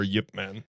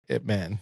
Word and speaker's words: Ip Man: uh IP man or Yipman. Yipman. Yeah. Yeah. So I that movie just like Is it pronounced Yip, man? Yeah. Okay. I I'm pretty sure that's what they say in the movies anyway.